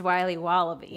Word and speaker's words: Wiley Wallaby: Wally's will be wobba beats pronounced Wiley wallaby well it's very good it's called Wiley wallaby and it's delicious